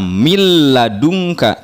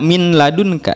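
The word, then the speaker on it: من لدنك: ro untuk lam milladunka nun sukun bertemu dengan lam bunyinya hilang langsung kelam milladunka tidak Min ladunka ya Nyi Roro mirrobbikum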